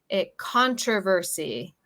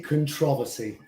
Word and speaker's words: controversy: So yo diría para decir como controversia, controversy. Controversy. And in British English, it would be controversy.